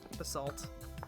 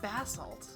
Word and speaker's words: basalt: Basalt, I keep calling it bassalt.